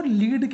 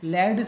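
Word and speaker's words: lead: किसका, की का, वो लीड कहलाता है। क्या कहलाता है? लीड। कहीं कहीं पर इसको आप किसको लैड से भी पढ़ते हैं, लेकिन ये यूजुअली उसका प्रोनाउंसिएशन होगा वो लीड ही होगा।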